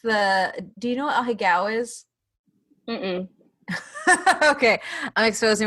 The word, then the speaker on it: ahegao: I may be pronouncing it wrong, but it's like AHEAGO, I think.